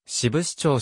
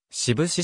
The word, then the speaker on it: 志布志: 開始された 1995 年以降の志布志町車志布志市志布志町志布志 2 丁目志布志町